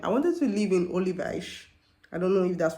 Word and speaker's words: Olivais: the last time, I wanted to live in Olivais. I don't know if that's what they call it, but it's Olivais, Olivais.